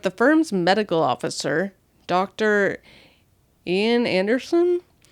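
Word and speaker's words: Iain: Ian Anderson, I believe is how that's pronounced. It's like I A I N.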